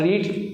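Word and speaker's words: read: spelling वही रहती है लेकिन उसको बोलने का तरीका होता है रेड रीड रेड रेड और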